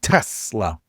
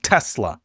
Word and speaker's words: Tesla: Everyone complains about how I say it. Tesla. But I say it like a Z. Tesla.